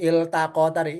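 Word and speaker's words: التقتا: Untuk lafaz yang tadi iltaqo tadi. Iltaqota bacanya ya.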